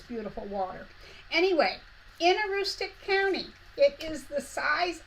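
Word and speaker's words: Antigonish: live in what's called austic County and that is m pronounced because it doesn't look quite like how it's pronounced but austic the word austic came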